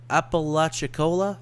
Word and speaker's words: Apalachicola: Here's Tallahassee, here's Panama City, and I don't know how to pronounce the Apalachicola. I think I got that. Apalachicola, Florida.